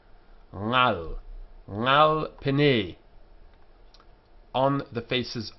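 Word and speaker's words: עַל: But we don't go in for that in Spanish and Portuguese, and so we pronounce it as the sound, similar to the end of the word sing. Ngal, ngal pene, on the faces of.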